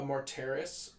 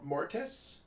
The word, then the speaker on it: Mortis: library there's some new books coming out a more terrace is that how you say it more mortise more terrorists more i don't know are you